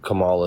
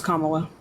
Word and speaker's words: Kamala: you're a pretty good Kamala supporter right like you know that's not how you pronounce her name Kam Kamala that's not how you pronounce her name it's Kamala okay kamla Harris M